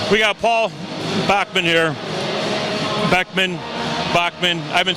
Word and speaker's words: Bachman: Bachman.